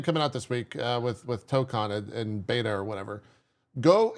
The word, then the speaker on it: Tokon: Tuco is the new fighting game coming out. Is that how you pronounce it? So Or whatever word you're saying. I just keep No, hearing you say something. Marvel Tokon. Tokon. Yeah, we're talking about Marvel Tokon.